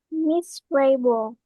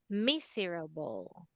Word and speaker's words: miserable: Miss Rabel. All right, not rabel. It's better to say miserable. Miserable. Rubble, like that. Miserable. Miserable. But the proper pronunciation of this is silent letter E.